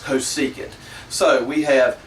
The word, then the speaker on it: cosecant: is cosecant um actually from what I can gather that is the proper way of pronouncing that I don't think it's coant uh I think it's just cosecant so we have S